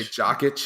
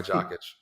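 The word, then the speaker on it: Jokić: I don't know if that's how you pronounce his name, but I believe it's Jokic. I like to say Jokic. Like you're itching your jock.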